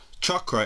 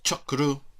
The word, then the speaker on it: chakra: this what are chakras chakra is a Sanskrit word meaning wheel and it is correctly pronounced chakra or chaku so the chakras are